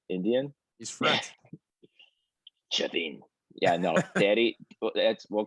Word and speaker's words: Chafin: Big Daddy Shafeen was pumped up about that one.